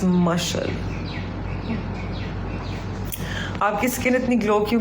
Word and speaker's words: Mashal: Mashal. It's Mashal, not Mishal. Not Mishal. It's Mashal.